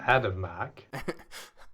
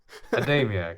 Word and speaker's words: Adamiak: Adamak? How do you pronounce that name? I don't know how to. Adamiak. Adamiak. There is an I.